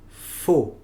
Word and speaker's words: faux: Y la adición de las letras A y U hace el sonido O. Faux.